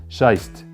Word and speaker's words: Scheiße: Scheist. Good pronunciation, by the way.